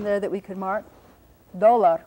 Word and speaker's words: dólar: Dólar would be D, O, accent on the first syllable.